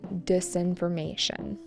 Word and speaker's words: disinformation: In these cases, they're spreading disinformation. Disinformation with an emphasis on may, the fourth syllable.